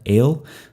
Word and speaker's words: El: Okay, the Semitic word for God, El, that's a tsere vowel. It's two dots side by side, a long E vowel. It's actually pronounced A, as in they.